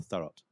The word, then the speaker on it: Thurrott: Is it Thorough or Thurrott? Thurrott. Thorough. Okay, good. So I was pronouncing it right.